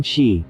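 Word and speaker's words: xi: associated with the spleen she pronounced like she which connects the whole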